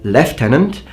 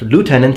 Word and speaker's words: lieutenant: are mispronouncing the word leftenant because in America it's pronounced lieutenant and that makes more sense because is closer to the original pronunciation of the original French word and so basically is